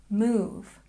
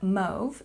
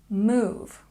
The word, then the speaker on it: move: Move, move. It's not mauve, it's move.